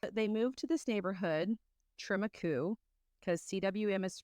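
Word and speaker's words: Trem-y-Cwm: Tremaku, but it is spelled TREM dash capital Y dash CWM. CWM. Yes. So it's tram dash Y dash CWM.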